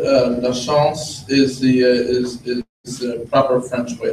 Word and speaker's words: Lachance: Lachance is the common way to pronounce it. Lachance is the proper French way to pronounce it.